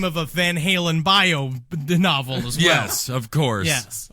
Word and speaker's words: Van Halen: what was it Sam Hagar and uh Rie Von holen is actually how it's pronounced van I'll tell I'm going David Lee